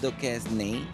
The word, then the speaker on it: Duquesne: Duquesne.